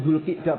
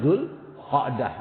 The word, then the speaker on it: Zulqi'dah: Zulqa'dah bisa dibaca Zulqi'dah. Tapi memang yang benar yang baca itu Zulqi'dah Pak. Sama dengan Zulhijjah. Kasrah kan? Zulqi'dah. Ya cuman kita sering bacanya Zulqa'dah atau Zulqa'idah itu kan. Mestinya bacanya itu Zulqi'dah itu kan.